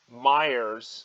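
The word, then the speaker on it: Meijer: tried fred meyer but i did try myers which is spelled with a j uh and and they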